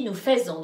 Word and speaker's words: faisons: Hein, alors, en plus, tu n'as pas dit nous faisons, donc c'est bien nous faisons.